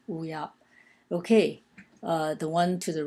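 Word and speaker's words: 乌鸦: again, wu ya, and it's pronounced wu ya, both in the first tone, wu ya. Okay, the one to the right of wu ya in the second row,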